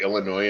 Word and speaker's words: Illinois: I'm pretty sure if you look up Illinois in the dictionary, I'm pretty sure it phonetically drops the S.